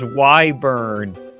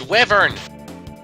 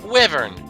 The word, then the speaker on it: wyvern: monster in all the series is known as wyburn it is just it's just awesome where it's wyvern wyburn why do you call it that that was gold no it's a the term is pronounced wyvern no actually that wasn't the first time that